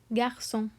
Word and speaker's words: garçon: But because it has sédaille, it is pronounced as garçon, garçon.